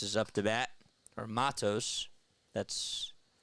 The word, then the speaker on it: Matos: off so Matos is up to bat or Matos that's how you say his name Luis Matos